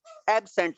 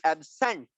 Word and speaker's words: absent: The stress is on the first syllable when it is an adjective. जब ये adjective pronounce होता है तो ये absent होगा.